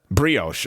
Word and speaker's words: brioche: I have no idea what the hell a broche bun is, and I mispronounce it constantly. What's that? Brioche.